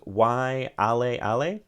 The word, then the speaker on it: Waialeale: Sorry if my Hawaiian pronunciation is not great, but it is Mount Waialeale, I think is how you say that.